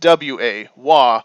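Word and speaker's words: は: the Kana for ha h a but it's pronounced w-a-wah when used in this fashion now it's a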